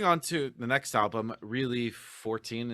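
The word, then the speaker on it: ReliXIV: then moving on to the next album, Really 14 is how you pronounce it.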